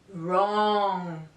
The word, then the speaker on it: wrong: the letter W okay the letter W is not pronounced at the beginning of a word if it is followed by the letter R for example right wrong and we also have